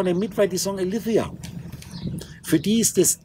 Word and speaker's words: Aletheia: Also gematrisch die 9, ist TH ausgesprochen Aletheia. Ich sage Aledea, weil da steht A-L-E, ich spreche es, wie ich es ausspreche, Aledea.